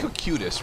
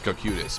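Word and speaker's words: Cocytus: it to Lake cosages now it's supposed to be kokutis right COC y-t-u-s cositis all right I always pronounce I always pronounce it as cocutis but it says kokutis the wolf then no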